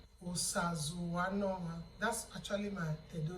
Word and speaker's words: Osazuwanoma: That's why you just go ahead and use the way you just pronounce the English letter O as Osazuwanoma. Again, the syllables will come in there, because you can slash your Osa, you can slash Zu, you can slash Wa, you can slash the No, you can slash the Ma.